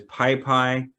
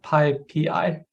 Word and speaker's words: PyPI: All right, Paul was saying, I guess I'm mispronouncing it as PyPy. People often pronounce it as PyPy. Yeah, that's probably a good way to do it. Oh, PyPI.